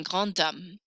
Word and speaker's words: grand homme: I'm going to hear that letter D a little bit more here because I don't pronounce the H.